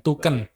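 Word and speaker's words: Thuken: saru apa t h u k e n tuken Jangan dibalik bacanya Oh ya ya ada kata-kata lucunya enggak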